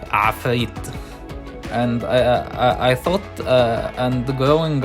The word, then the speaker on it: Ifrit: And coming from an Arabic country, Ifrit is pronounced Afrit.